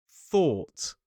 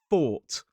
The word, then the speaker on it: thought: So, the pronunciation is or t thought. Thought. Thought. Common mistakes with this word is putting the top teeth on the bottom lip and making it more like a fault.